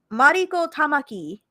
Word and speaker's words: Mariko Tamaki: No, you're just not saying it with the Japanese pronunciation.